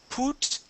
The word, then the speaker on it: put: Instead of put the gun down, it's put. Put. Good. Good. Yeah. So that's a short U sound.